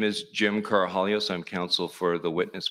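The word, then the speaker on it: Karahalios: thank you Mr Mather my name is Jim carohalios I'm counsel for the witness Mr Victor the last name is spelled k-a-r-a-h-a-l-i-o-s uh thank you Mr commissioner for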